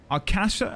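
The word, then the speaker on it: Akasha: Accent on the first syllable, Arkasha.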